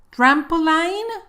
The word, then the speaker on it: trampoline: No vayas a decir line. Trampoline, no. Escucha la pronunciación correcta.